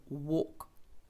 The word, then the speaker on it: walk: є таке цікаве правило якщо в нас є a п L а далі йде буква K або ж буква F то тоді L не читається це треба собі запам'ятати десь в своєму конспекті нотатках якимось там кольором виділити або підкреслити Тому це буде Walk To Fall падати тепер